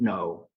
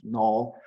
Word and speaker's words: Noh: In English, Noh is pronounced no, but sometimes it can be not quite clear what I mean, but I will pronounce it in the English pronunciation, not Noh in the Japanese way, but in the English way.